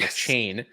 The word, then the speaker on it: Achane: That was the correct pronunciation for Devin Achane.